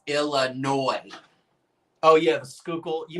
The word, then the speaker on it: Illinois: Illinois? No, it's Illinois.